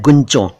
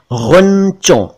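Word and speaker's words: ग़ुंचों: है, उन्होंने बोला है गुंचों। ये गुंचों नहीं है, ये है गुंचों। इसे हिंदी में लिखेंगे तो ग के नीचे नुक्ता यानी डॉट यानी बिंदु लगाना पड़ेगा, गुंचों।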